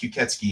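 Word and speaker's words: 吸血鬼: It's pronounced Kuketsuki in Japanese.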